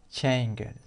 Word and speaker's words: changed: Esta e no se pronuncia. To change. Entonces, para pasar al pasado, simplemente añadimos de. Entonces lo pronunciaríamos el pasado changed. Al final la de changed.